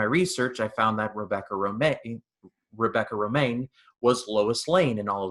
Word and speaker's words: Romijn: O'Connell and Rebecca, and her name is definitely not spelled like Romaine. It's spelled Romijn, and I was totally going to name her like Rebecca Romagen or something dumb like that.